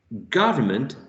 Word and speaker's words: government: are unstressed for example when we say government the the first syllable is the word which is a stressed you say government god garment so you will never find a schwa in a stressed syllable you will always find